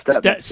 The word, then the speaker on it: Stepnitz: Yeah, we're talking to Warren De La Salle quarterback Stepnitz, and is that how you pronounce it? Stepnitz, right? Yeah, Stepnitz.